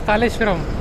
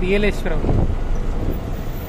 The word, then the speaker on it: Yeleshwaram: First I read it as Kaleshwaram. Then I saw it is APSRTC. Then I asked him how to pronounce this. He said Yeleshwaram.